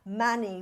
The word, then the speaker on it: Mani: And then you're going to say Mani, which is a two-syllable word, which means jewel, which is seeking the enlightenment, because enlightenment is the jewel.